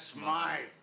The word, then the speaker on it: Smythe: Mr. Smith is closing up his shop. That's Smythe.